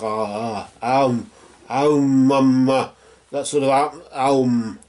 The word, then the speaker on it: Om: Of course, Om is the beginning of something, so it's like Aum, Mama. That sort of Aum, really, it's Aum, and although it's spelt Om, it's really A-U-M, it's Aum, really.